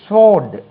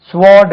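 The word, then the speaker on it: sword: இனி ஒரு வேர்ட் பாருங்க எஸ் டபள்யூ ஓ ஆர் டி அது என்ன வாளா இதுக்கு உச்சரிப்பு வந்து சோட் ஸ்வார்ட் கிடையாது சோட் இப்படித்தான் இருக்கும் சோட் இது எப்படி ஸ்வாட் ஆச்சுன்னு தெரியல ஸ்வாட்ன்னு சொல்லுவாங்க ஸ்வாட் இதெல்லாம் உச்சரிப்பு போன் வால்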